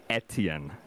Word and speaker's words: Etienne: Oh, by the way, it is pronounced Etienne. Etienne? Etienne. Now in France. That it's was pronounced wrong. Now, no, you had it at one point, but in France it's like Etienne, or some shit.